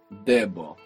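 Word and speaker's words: debt: it comes from there we don't pronounce it in English of course but this word is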